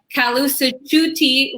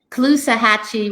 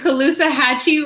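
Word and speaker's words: Caloosahatchee: tide so your district includes the kalu tutti river parts of lake i definitely pronounced that wrong what was it the clue hatchy river and okeechobee lake okeechobee and colusa hatchy river correct and uh so those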